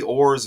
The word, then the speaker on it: Orr: So Colton Orr and Bobby Orr's birthdays 17 days apart. 17 days apart. They share the same last name. Orr rhymes with 4.